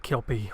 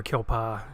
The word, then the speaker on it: kelpie: what's your thoughts on the kelpie or kill paw correct me if i'm in saying the name wrong which like I said I'm pretty sure it's kill paw I try to look